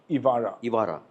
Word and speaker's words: Evaarah: Has your granddaughter, how you pronounce Evaarah? Evaarah.